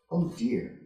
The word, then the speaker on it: ODIHR: Institutions and Human Rights, or, amusingly, ODIHR, pronounced, oh dear.